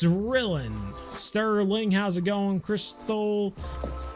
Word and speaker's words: Rylan: Is it Rylan or Rillin? I could see it kind of being spelled like Dylan, but with an R. It's Rillin.